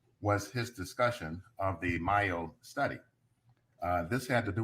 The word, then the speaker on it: Mayo: Because I'm mixing up DeMayo and Yeah, the Mayo study is M-A-Y-O. It's as though it should be pronounced Mayo.